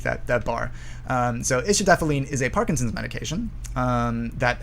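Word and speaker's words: istradefylline: um with the star on top right um istradephalene um this is how you pronounce that word underneath that that bar um so ischidaphalene is a parkinson's medication that has been used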